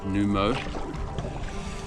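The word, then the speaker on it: Numao: N U M A O. I think that's pronounced Numo.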